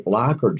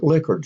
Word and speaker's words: Likert: A 5 point scale is most often used in DMIN projects, and you use a scale that's referred to as a Likert scale or Likert scale, depending on who's pronouncing it.